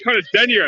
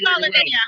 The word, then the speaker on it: Carla Denyer: Sorry, Carla Denyer, is that how you say it? Yeah. So Carla is the new Green Party leader for England. Well, co-leader. England and Wales, yeah. My name's Carla Denyer.